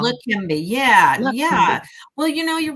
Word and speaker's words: Leqembi: something like Rakimbi. Do you know anything about that drug? Maybe I'm saying it wrong. Leqembi, yeah, Leqembi.